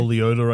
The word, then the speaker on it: Liotta: Or Leota, I guess, if you want to say his name right.